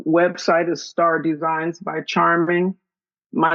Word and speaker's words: Charmeng: is star designs by Charming my name is spelled c h a r m e n g same pronunciation Charming just a e instead of an I um so on Instagram